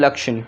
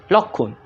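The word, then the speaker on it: লক্ষণ: It should be pronounced Lakshan, but it's pronounced Lokhun.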